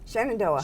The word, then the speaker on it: Shenandoah: Shenandoah, how do you pronounce that? - Shenandoah.